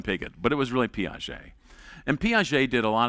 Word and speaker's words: Piaget: And we came across a Frenchman named Piaget. Now, at the University of Nebraska, our French pronunciation was not very good, and so I referred to him as Pigot.